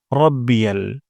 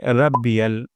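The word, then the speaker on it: ربي: হা সুবহানা সুবহানা তারপর রব্বিয়াল যেন এমনটা না হয় রাব্বিয়াল র মোটা করে উচ্চারণ করতে হবে রব্বিয়াল সুবহানা রব্বিয়াল তারপর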